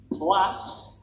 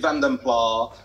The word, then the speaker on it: Vanden Plas: I'm going to be chastised for my pronunciation yet again. Lot 140, it's the 1976 Vanden Plas.